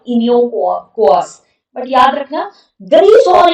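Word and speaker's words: Iniochos: इनिकोस, इसका pronunciation actually कुछ और होगा, इनियोकोस, बट याद रखना ग्रीस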